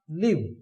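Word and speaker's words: live: According two part of speech this word has different sounds. If this word is used as verb we pronounce लिव। If this word is used as an adjective, not adjective, adjective, जब ये adjective यूज होता है तो अपने इसको क्या pronounce करते हैं? लाइव, लाइव show, लाइव commentary, ये देखिए लाइव न्यूज।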